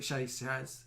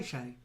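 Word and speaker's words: chez: always troubled me because they were spelled the same c h e z c h e z so if you were going to it you'd never call it chasers you'd say are you going to shay shay yeah or chess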